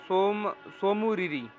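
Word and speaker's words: Tso Moriri: इसके अलावा सोमुरिरी, सोमुरिरी, सोमुरिरी, सोमुरिरी, इसकी स्पेलिंग में तस्सोमुरिरी आता है, टी पहले आता है।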